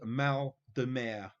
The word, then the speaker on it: mal de mer: Here's my French pronunciation for you. What illness is known as mal de mer?